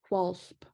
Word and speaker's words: P'hwulhp: So this is pronounced w'alsp.